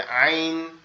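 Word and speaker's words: عين: গইন গইন গইন তাহলে একটা গলা চেপে হবে আইন, আইন, আইন আইন।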